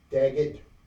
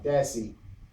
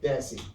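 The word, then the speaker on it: Dassey: and his nephew um Brendan uh daget oh wait a minute I see I think I mispronounced his name once again uh Brendan uh dassi not Dag dassie I stand correctly uh help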